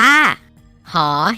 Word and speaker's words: ห: มอง เห็น อยู่ นี่ อ่าน ออก เสียง ว่า หอ ห*บ น้อง ๆ ฝึก ออก